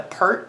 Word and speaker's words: PERT: equation referred to as the PERT equation because PE RT it sounds like the word pert so let me plug